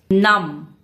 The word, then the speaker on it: numb: Numb. Silent B again.